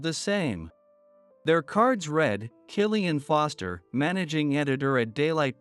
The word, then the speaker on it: Killian: Their cards read, Killian Foster, Managing Editor at Daylight Press, and Catherine Yates, Editor-in-Chief of Upton Magazine.